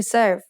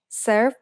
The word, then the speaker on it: เสิร์ฟ: make the vowel สระเอ The letter R in the English word serve doesn't get pronounced in Thai, so we write รอเรือ with การัน above it, just to indicate what the original spelling was. Finally, for fun is used in place of the letter V because there is no Thai letter that makes a V sound.